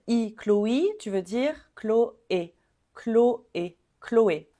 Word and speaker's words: Chloé: Chloé tu veux dire Chloé Chloé Chloé le CH ici ch c'est exactement comme un K clle Clo et Chloé Chloé ensuite ce prénom on